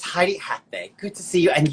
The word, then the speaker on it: Heidi Athay: you pronounce it what's the best way to pronounce it uh it's heidi hathbae good to see you and you hail from